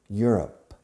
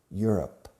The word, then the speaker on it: Europe: Europe, Europe, Europe. La pronunciación es como you are, you're, up. Europe. Acentuando la primera sílaba.